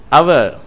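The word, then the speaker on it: hour: என்று சொல்லி அழைக்கிறோம் 472 அவர் அவர் என்று சொன்னால் மணி என்ற அர்த்தத்தை தருகிறது இது ஹவர் என்று சொல்லக்கூடாது இது அவர் என்று சொல்லுகிறோம் 473வது வார்த்தை லேடி லேடி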